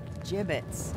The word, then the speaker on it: gibbets: Gibbets? What? It's pronounced gibbets.